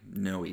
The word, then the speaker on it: Noe: It is Noe Valley. Noe Valley. 2 syllables, Noe. It's not Noe, not no, but Noe Valley.